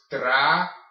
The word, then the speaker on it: trabajar: This is pronounced trabajar, okay? Your A's are all pronounced I. It's not trabajar. All right. So when you see a J in a Spanish word, think H. Okay. Your J makes the H sound in Spanish.